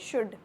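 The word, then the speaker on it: should: वो भी अभी तक शुल्ड ही पढ़ते हैं कि नहीं दीदी ये शुल्ड लिखा है, शुल्ड लिखा है। मैं शुल्ड नहीं लगा, इसमें एल साइलेंट होता है, तो क्या होता है ये शुड।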